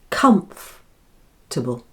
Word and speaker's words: comfortable: You lose the OR sound in the middle. It's silent. Again, it has 3 syllables and the first one, comf, is stressed. Comfortable. The second and third syllables are combined, and instead of saying table, we say table, because the vowel is unstressed and so takes on the sound which is that common little schwa sound again.